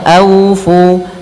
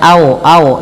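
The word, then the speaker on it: أوفوا: Lin lembut dalam pelafalannya aufu aufu jangan au au jangan pakai o tapi pakai u au Fu Kemudian pada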